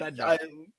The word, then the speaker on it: Bednar: I couldn't pronounce his last name. Yep, but Bednar.